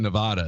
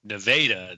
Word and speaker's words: Nevada: I was wondering if you meant Nevada, the actual city in Missouri. We don't pronounce things very well here. So there is a town called Nevada.